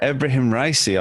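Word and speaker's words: Ebrahim Raisi: recently uh elected uh abraham ricey i believe it's pronounced as its leader who's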